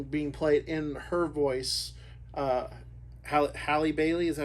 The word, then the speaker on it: Halle Bailey: Halle Bailey, is that how you pronounce her name? Yeah, Halle Bailey.